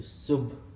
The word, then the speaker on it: Subh: So Subh.